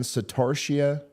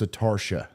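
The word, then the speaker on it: Satartia: kind of dumb um Susan says hey Ryan satarshia it's is pronounced satarsha satarsha in Amite county is pronounced emit all right thank you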